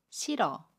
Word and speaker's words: 싫어: 발음 해요 예를 볼게요 싫어 를 보면 받침 뒤 이일희 이웃과 고음 어가 만납니다 그러면 싫어 라고 받음 해요 받침이 애 슨 아름 하지 않고요 아침 미르 이응 자리로 이동을 해서 러 로 발음합니다 그래서 싫어 라고 발음 해요 또 다른 해볼게요 끌어